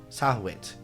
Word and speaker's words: Sahwit: Frank Sahwit to the stand. Did I pronounce it right? Yes.